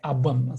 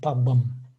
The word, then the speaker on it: пабэм: Ну, в народе как бы это диалектное абэм, сагайцы так говорят абэм, но литературное произношение пабэм. Хотя, конечно, вот в жизни говорят абэм, да.